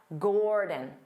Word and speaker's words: Gordon: his name wrong because they pronounce it as da Gordon Gordon da but that's not how you say his name but of course he's polite and he never corrects the local chefs his name is DaDa Gordon Dada Gord Gordon Gordon because the first syllable is stressed Gore so the second